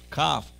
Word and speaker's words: Kaf: Kaf. Notice that it has a dagesh, so it's very strong. K, k, kaf. It's a chazak, strong k, k. But without the dagesh, it is soft.